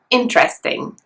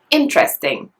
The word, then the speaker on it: interesting: For example, if I say the word interesting, it's stressed on the first syllable. Interesting. Can you hear it? The first syllable is a bit stronger.